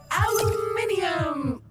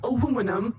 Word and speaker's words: aluminium: Aluminium or aluminum as Americans pronounce it incorrectly, but that doesn't make it any less useful.